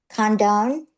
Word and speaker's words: Condon: The O N D O N. It's Irish. And now, how do you say it? Condone. Condone. Okay.